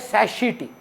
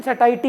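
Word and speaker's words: satiety: अब अगर आप लमार्टिनेर में हैं या मॉडर्न आई में, तो ये अंग्रेज बच्चा लोग पता है बोलता है सैशिटी, जबकि गूगल में करेक्ट प्रोनाउंसिएशन सटाइटी ही है।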